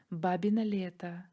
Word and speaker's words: бабино лето: В Беларуси его также называют «бабье лето», только произносится оно немного иначе – «бабино лето».